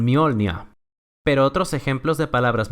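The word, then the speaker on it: Mjölnir: Una de ellas, y probablemente la más conocida gracias a Marvel, es que típicamente la letra J adopta un sonido de I, como en Mjolnir.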